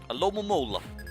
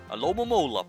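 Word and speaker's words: Alomomola: A Lomomola. It's really not that hard. Well, I guess it's a bit hard to just decipher how many O sounds are supposed to be in that name.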